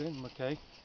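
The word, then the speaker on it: Benton MacKaye: We're walking on the Benton Mackay, I've been told, correct pronunciation.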